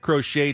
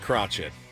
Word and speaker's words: Crochet: Your name's Crochet. It's spelled Crochet. That's how we're going to pronounce it. Like Bob Cratchit from A Christmas Carol. Kind of like Crotchet. that.